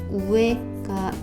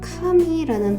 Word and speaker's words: 上: 합니다이 아이는 상이라는 발음을 갖고 있고요 위 오르다라는 발음으로는 혼도 우에가 있고요 우와라는 발음으로 쓰이기도 하고요 가끔 카미라는 발음도 있어요 그 다음에 동사로는 아게르가 있고요 그